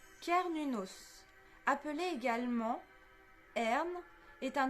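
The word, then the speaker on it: Cernunnos: pas bien au niveau du nom c'est alors prononcé kernunos appelé également Hern est un dieu ser cel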